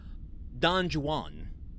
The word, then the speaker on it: Don Juan: It's written in rhyme, iambic pentameter, and so he often rhymes Juan with other words that Juan, I guess, wouldn't rhyme with.